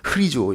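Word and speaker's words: ῥιζόω: 르자에다가 이렇게 헬라어에서 이렇게 콤마가 들어가면 그게 흐자로 발음이 되거든요. 강조가 되면서 르인데 르 강조하면 흐가 되는 거예요. 그래서 흐리조 이렇게 되는 겁니다.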